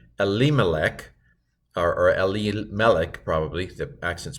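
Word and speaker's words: אֱלִימֶלֶךְ: See if you can pronounce the first part of the Hebrew. Here's how I would do it. Vayamat Elimelech Ish Naomi.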